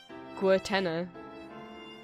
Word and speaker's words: Guertena: I'll be honest, I've never known how to pronounce the artist's name. I'm gonna say Guertena.